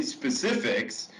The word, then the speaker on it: Specifics: So we say specifics, and then in one of the lines, I said specifics, don't get it twisted.